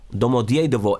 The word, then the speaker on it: Domodedovo: Okay, let's pronounce it right, okay? Domodiedovo Airport.